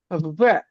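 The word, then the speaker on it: В: যে ওয়ার্ডটা এটা আছে ভ্যা এটা আমাদের ইংরেজি বির মতন দেখতে বাট এটার উচ্চারণ হবে ভ্যা মানে ভির মতন উচ্চারণ হবে ভির মতন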